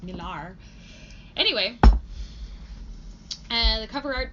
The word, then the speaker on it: Millar: Miller and oh yeah said Miller you can pronounce it Miller its Millar anyway and the cover